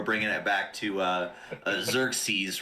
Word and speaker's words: Xerxes: so i'm seeing uh i'm seeing zerk seas is the way it's pronounced so okay so we're bringing it back to uh xerxes right like the uh